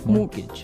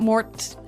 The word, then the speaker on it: mortgage: with a t yeah it has a t in it but you don't pronounce it you say mortgage morgage so not Mort morgage not mortgage morgage